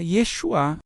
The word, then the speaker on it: Yeshua: A pronúncia aproximada seria Yeshuá. Esse nome era bastante comum